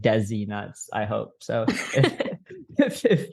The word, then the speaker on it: DeeZe: one of those people I've always pronounced your name in my head as Desi and I tell Michael this but I know it's de but I'm like I always just think Desi I don't know why